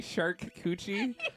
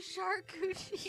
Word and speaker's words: charcuterie: Did you say shark coochie? As in the vagina of a shark? That's how I've seen it. As everybody's like, that's how you pronounce it. Technically, charcuterie. Shark coochie.